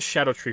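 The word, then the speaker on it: Scadutree: scadu tree right that's how it's spelled it's pronounced Shadow tree fragments I will not I will not pronounce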